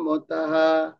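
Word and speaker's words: মতাঃ: উপেতা তেমে যুক্ত তমা মতাহা অর্থাৎ যুক্ততমা মতা বিসর্গ দেয়া আছে শেষে বিসর্গ দেয়া আছে তো আমরা শুনেছি স শব্দের শেষে যদি আমাদের কি থাকে যদি এরকম বিসর্গ থাকে তাহলে আমাদের হা উচ্চারণ হবে।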